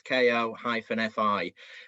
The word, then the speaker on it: Ko-fi: Out of interest, did you look at, and I'm not sure how you pronounce this, is it Ko-fi or Ko-fi? So it's Ko-fi as a platform.